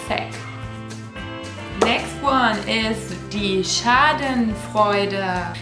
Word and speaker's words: Schadenfreude: Next one is die Schadenfreude. That's how we pronounce it in German. I guess your English speakers probably say Schadenfreude.